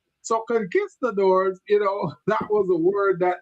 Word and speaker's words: conquistador: I'm going, conquista. Yes. The teacher said, no, Gilbert, it's conquistador.